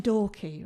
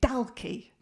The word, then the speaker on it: Dalkey: I was living in Dorky, right, but I was pronouncing it Dalkey. No one corrected me. And at first I thought that was nice of them. Then I realised they enjoyed hearing me say it wrong.